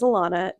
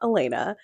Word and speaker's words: Elana: further Ado as mentioned my name is Elana that is how you pronounce it it is not Elena but I am too much